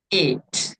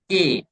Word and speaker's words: ate: Fast version ate. Okay, not at, ate. Okay, right, right. So pronunciations are very important.